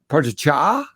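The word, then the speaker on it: Pogačar: I think Pogacar Pogacar, to say it correctly, and and Roglic will will race that.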